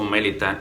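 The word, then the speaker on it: Melita: Este lugar que se nos dice ahí que se llama esta isla Malta o Mélita, en su idioma original se pronunciaba así, ¿no?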